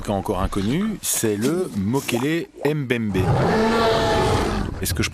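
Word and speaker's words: Mokele-mbembe: mystérieux en tout cas encore inconnu c'est le moquel Mbembé est-ce que je prononce bien oui vous prononcez très bien en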